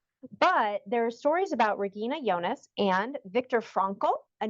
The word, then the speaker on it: Regina Jonas: I guess our ears Regina Jonas is how it's spelled but the German pronunciation is Regina yonas Regina yonas was the first woman